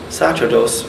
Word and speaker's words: sacerdos: So sacerdos, or I suppose sacerdos is an ecclesiastical pronunciation of Latin, and sacerdos maybe in classical Latin, that gives rise to